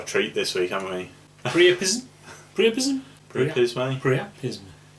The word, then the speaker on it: Pryapisme: Pryapisme. Pryapisme. Pryapisme. Well, it's French, isn't it? So they wouldn't pronounce the E.